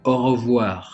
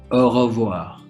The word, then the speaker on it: au revoir: if you want to say goodbye we say au revoir again repeat with me au revoir for goodbye and in arabic if you